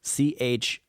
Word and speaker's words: Chihuahua: know man j-e-s-u-s-i-t-a new word e-n new word c-h-i-h-u-a-h-u-a so that's definitely chihuahua um it's like it's